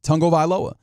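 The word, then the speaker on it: Tagovailoa: And what he said in a video that I'm sure I could go and search up again is Tungo Vailoa.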